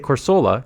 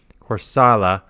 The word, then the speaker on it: Corsola: that I go through I used to say corsola because that's how it's written and then someone says it's an A corala so I started saying corala and then someone else